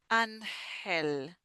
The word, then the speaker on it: ángel: So in this case, we have an, and then the G is like a h, Ángel, Ángel.